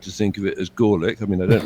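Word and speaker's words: Gorelick: Jamie gorick I think she prefers for obvious reasons to pronounce her name gelic I like to think of it as glic I mean I don't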